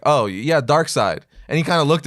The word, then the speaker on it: Darkseid: book shop was like oh is this your darksied I'm like because it was one of them